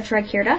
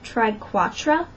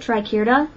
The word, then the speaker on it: triquetra: She just put a triquetra here. Some people pronounce that triquatra, and I don't know why they pronounce it like that, because it's not spelled like that. So I pronounce it triquetra.